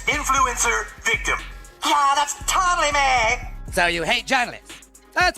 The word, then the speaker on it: Meghan: I feel like the focus is starting to shift off of me. Maybe in editing you'll fix it. People were saying meh. It's not meh. It's pronounced me. The H is silent.